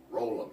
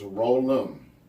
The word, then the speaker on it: Rollen: DJ Rollin' Mix, where can they follow you? Always follow me at DJ Rollin, ROLLEN. Please pronounce it Rollin. Roll'em, not Rollin, not Roll'em, or whatever y'all say. It's Roll'em, Rollem, at Twitter, Instagram, DJ Roll'em on DJ